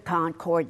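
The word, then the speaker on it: Concorde: The Concord.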